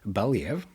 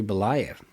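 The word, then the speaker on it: Belyaev: asked by her professor Dmitri Balv I think actually it's pronounced Dmitri Bolv. I have since uh after writing this many times I have then found an audio book uh uh and then got to listen to that name.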